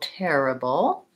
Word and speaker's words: terrible: to pronounce terrible so terrible this one has the air diphthong even though it just looks like an ER it has four syllable stress so long short short terrible and it has